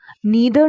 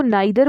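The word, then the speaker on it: neither: साथ, और के साथ, नीदर नॉर के साथ, या ईदर और के साथ। या तो आप इनको नाइदर बोल सकते हैं या आइदर, या नीदर या ईदर, दोनों ही प्रोनाउंसिएशंस इसकी करेक्ट हैं।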